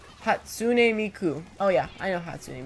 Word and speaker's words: Hatsune Miku: You can't pronounce her name, it's Hatsune Miku.